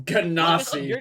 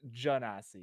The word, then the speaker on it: Genasi: Panda, what's your argument for why it's Genasi? Because it's based off Genie.